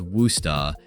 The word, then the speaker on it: Worcester: Welcome to Massachusetts, where the locals somehow pronounce Worcester as Worusta, and education is practically the state religion.